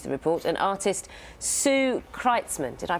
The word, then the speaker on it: Kreitzman: With us is David Sinclair, Director of the International Longevity Centre, which produced the report, and artist Sue Kreitzman. Did I pronounce that correctly?